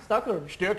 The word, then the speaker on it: Stockholm: I quite like the way you pronounce Stockholm. How do you say Stockholm? Stockholm.